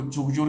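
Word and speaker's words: Dzhugdzhur: येब्लोनोवी है, स्टेनोवी है, इसको जुगजुर कहते हैं, यहाँ पर डी साइलेंट है, जुगजुर है, कोलियामा है,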